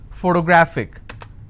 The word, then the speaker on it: photographic: If I have another word, photographic, somebody has a photographic memory. So what are the syllable break? It's pho-to-gra-phic. And since it's ending with IC, I will stress on gra.